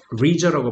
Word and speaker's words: leisure: leisure라고 발음하면 됐죠?